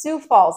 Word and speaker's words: Sioux Falls: thank you guys for telling me how to pronounce this Sioux Falls at 37.5 percent and the best part is